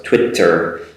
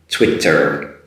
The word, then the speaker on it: Twitter: a huge problem but it's not ts sound in there it's a tw sound it's twit so it's twitter make sure you make that r sound at the end twitter twitter keep away from